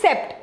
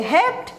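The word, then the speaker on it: hept-: कई बच्चे कंफ्यूज हो जाते हैं विद सेप्ट, तो ये सेप्ट नहीं है, ये हेप्ट है। ओके, 7 के लिए हेप्ट, ऑक्ट, नॉन, and then 10 के लिए डेक।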